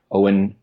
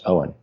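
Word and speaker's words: Eoin: yep yep III did Owen I think that's how they pronounce it actually oh and Topher is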